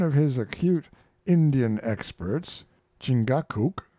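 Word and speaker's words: Chingachgook: his acute Indian experts chingakuk pronounced Chicago I think has lost the trail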